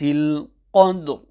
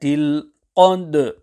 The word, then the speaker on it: القدر: So the correct recitation is في ليلة القدر, where the qalqalah of the letter dal joins with the ra. To recite in the following manner will be incorrect.